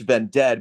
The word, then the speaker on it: VENDED: I prefer it pronounced ven dead because that's what I was thinking about when I wrote the name down on a piece of paper was kind of deed dead.